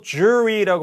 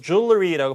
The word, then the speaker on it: jewelry: 이거는 뭐 jewelry라고 발음하기도 하고 L 사운드를 발음해서 jewelry라고 발음하는 경우도 있습니다.